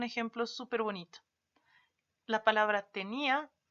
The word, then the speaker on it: tenía: y la palabra tenia se dan cuenta que incluso cuando nosotros hablamos de esto lo pronunciamos de manera distinta no en la fuerza de nuestro esfuerzo de voz está en otra parte tenía y tenia hablamos de